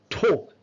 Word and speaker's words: talk: Ta ta kha kha. It's a talk. L sound silent.